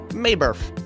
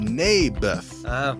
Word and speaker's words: Naboth: Mayberf. I think you're saying it wrong. His name was Naboth.